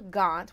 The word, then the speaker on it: Gaunt: So we have Ella Gaunt, which rhymes with DuPont.